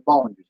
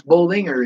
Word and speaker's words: Bollinger: With Natalie, a lot of people say it's Bollinger, it's Bollinger. No, it's Bollinger.